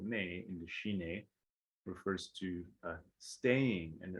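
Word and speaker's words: ཞི་གནས: So it has two syllables, shi ne, and the first syllable, shi, means peaceful or pacified, calm.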